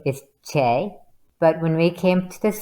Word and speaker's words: Chae: But really, the spelling pronounces it Che. So it's Che, be all end all, not necessarily Shay, although you're okay with that, but it's Che.